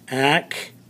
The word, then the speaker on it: activity: activity activity activity activity i want you to listen to the syllables in that underline activity so we're actually going to circle the ti activity because that's where the at the uh what do you say the accent of the syllable is activity but when we do the